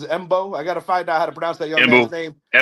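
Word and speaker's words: Mbow: I think the way you pronounce it is Embo.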